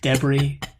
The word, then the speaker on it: debris: debris and uh yeah don't you just love that british pronunciation debris the taking note of all the space debris debris there i said it both ways for all of our